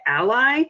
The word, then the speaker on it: a11y: A fun fact about Accessibility – you can shorten the word by saying a11y, sometimes pronounced as “ally”.